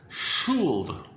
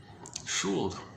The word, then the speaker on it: Schuld: In German, it's Schuld. I'm not sure if that's exactly how you pronounce it. It's approximately pronounced as Schuld. Schuld. That's as clear as it gets.